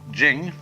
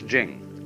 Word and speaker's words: Ching: it's pronounced du and Jing there is no apostrophe after the CH so if there were it would be pronounced Ching but it's Jing like a j and so Jing in